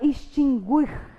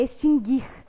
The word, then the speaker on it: extinguir: na área do direito quando a pessoa quer dizer que há uma extinção a ela fala extinguir né pronunciando o errado o certo é extinguir o não é pronunciada a